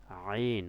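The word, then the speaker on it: عين: আইন কোথা থেকে উচ্চারণ হয়, গলার ভিতর থেকে। কোথা থেকে, গলার ভিতর থেকে, হলকের ভিতর থেকে, একদম মাঝখান থেকে, কণ্ঠনালী থেকে কি হবে, আইন। কণ্ঠনালীর ভিতরে জোর দিয়ে উচ্চারণ করবেন, আইন 3 আলিফ টান, আইন।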